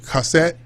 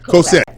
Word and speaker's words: Cosette: am i saying right cassette am i saying it right cassette what's that what's your name cassette cosette she has an amazing